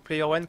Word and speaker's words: PlayerOne: code de réduction PlayerOne, donc PlayerOne comme ça se prononce, hein, PlayerOne, vous bénéficierez de la gratuité des frais de port.